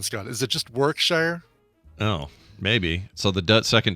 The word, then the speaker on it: Warwickshire: think it's just work workshire I don't think you pronounced that second W oh it's not Warwickshire I think it's and